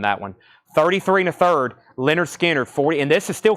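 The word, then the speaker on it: Lynyrd Skynyrd: this is actually a 33 and a third pronounced Leonard Skinner this is not the 45 RPM is discontinued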